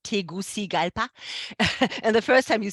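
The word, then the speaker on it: Tegucigalpa: about the country although nobody knows how to pronounce the capital and I had to learn it it's tigusi galpa and the first time you see it you're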